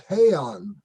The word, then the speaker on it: Heian: The pronunciation of the school is Heian, Heian, right.